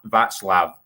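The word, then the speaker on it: Václav: to Tom who says heads up it's pronounced v vatslav um my cck girlfriend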